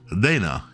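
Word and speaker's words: レナ: from Final Fantasy 5 whose displayed name would be pronounced as Reena in Japanese with Lena seeming to be the localized name.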